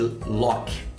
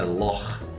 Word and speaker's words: loch: Na verdade, o lago na Escócia a gente chama de Loch, mas na verdade a pronúncia correta é Lor, né?